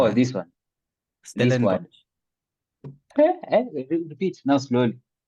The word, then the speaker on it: Stellenbosch: Stellenbosch. Repeat now slowly. Stellenbosch. Oh, Stellenbosch.